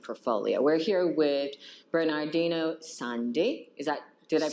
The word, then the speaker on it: Sani: We're here with Bernardino Sani. Did I pronounce? Yes. Oh, Sani.